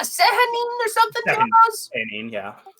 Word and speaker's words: Sehanine: to do with the moon god known as Sehanine, and it is pronounced like that. I'm pretty sure, if I remember correctly, it was like wasn't it like a Sehanine or something?